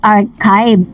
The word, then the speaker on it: archive: Sabi ni Miss Violeta Castro, Miss Dareds, archive is pronounced as archive with AK, not CH and long I.